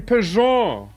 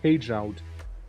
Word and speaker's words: Peugeot: Oh, you mean Peugeot? Peugeot. Yeah, Peugeot. Of course. Why am I reading it like page out?